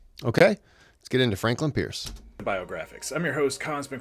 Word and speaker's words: Pierce: likely to hear Franklin Pierce who pronounced his surname as purse is consistently ranked as